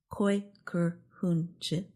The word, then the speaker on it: Kooikerhoentje: Other words on the list include Dutch Kooikerhoentje, pronounced Kooikerhoentje, is a breed of dog that became known this year.